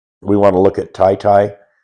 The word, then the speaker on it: Taytay: We want to look at Taytay, Taytay, Taytay. That's how it's pronounced.